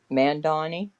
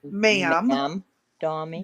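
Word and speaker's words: Mamdani: Mandani. No, ma'am. M A M. Ma'am, Donnie. Donnie. D A N I. But it's the A has an O sound.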